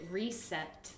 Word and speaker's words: reset: c'est quoi la vraie la prononciation correcte c'est reset reset reset donc comme re et set pas reset ok c'est pas le son de Z mais s ouais reset donc si